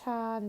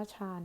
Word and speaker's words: ฌาน: ถึง ชำนาญ แล้ว ก็ ฌาน ช เฌอ สระ อาน หนู หมาย ถึง ภาวะ ที่ จิต สงบ ค่ะ อัน นี้ ก็ คือ คำ พ้อง เสียง ที่ ออก เสียง ว่า ฌาน นะ คะ คำ พ้อง